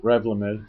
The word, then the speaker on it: Revlimid: Revlimid, yeah.